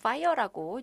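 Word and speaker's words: FHIR: 그래서 지금 파이어라 블루는 여기 철자는 fh IR이지만 그냥 파이라고 이제 발음을 합니다 그래서 지금 이렇게 조금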